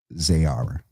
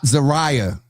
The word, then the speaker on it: Zayara: Congratulations to Darius and Zane on the birth of Zayara. 6 pounds. I'm telling you, I'm going to get cussed out. Everybody have. It is not Zariah. It is. She sent it phonetically Zayara.